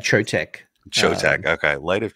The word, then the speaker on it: Chotec: light of Charlie yeah I pronounce that trotech okay light of chotec um I think that